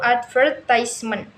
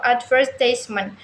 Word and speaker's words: advertisement: For instance, the British English, the word advertisement is stressed on the Scots level advertisement. In America, English is often stressed on the first level advertisement.